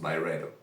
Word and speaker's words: Byredo: I think it's pronounced by Redo.